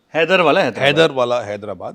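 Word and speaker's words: Haidarabad: नाला या नॉट the this spelling of हैदराबाद इट इज एच ए आई डी ए आर ए बी ए डीली called हैदर हैदर हैदर वाला हैदराबाद हैदर वाला हैदराबाद बा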